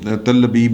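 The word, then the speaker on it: תל אביב: بڑی مزے کی بات ہے، اور مزے کی بات یہ ہے کہ تل ابیب، جو تل ابیب ہی کہنا ہے، ہاں یہی اس کی پرونانسیشن ہے، ایک شہر ہے اسرائیل کا.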